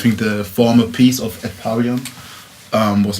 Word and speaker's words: At Pavillon: No, I would say At Pavillon. Like a mixture of English and French.